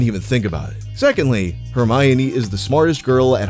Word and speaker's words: Hermione: Granger first of all her name is pronounced hermion not hermion you could remember where the accent goes because it's on the my as in Hermione is my girl not yours which means